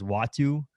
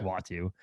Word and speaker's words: Uatu: the wikipedia page the the pronunciation says w-a-h-t-o-o so that to me is watu that sounds good to